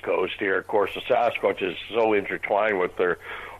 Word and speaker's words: Sasquatch: the hills called the Sasquatch. The best way to pronounce it is take the word bucket, drop the B, and add S-A-S to the beginning, Sasquatch.